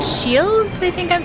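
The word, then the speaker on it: Scheels: So we just came into a store called Shields. I think I'm saying it right. Shields. Shields? No D? No D. Shields.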